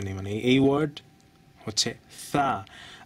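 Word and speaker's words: ث: বাঙালিরা এটা উচ্চারণ করে সা। সা বলতে আরবিতে কিছু নেই, মানে এই ওয়ার্ড হচ্ছে সা। আপনি থ আর শকে যদি একসাথে উচ্চারণ করেন, আপনার যে মানে শব্দ বের হবে ওইটা হচ্ছে সা।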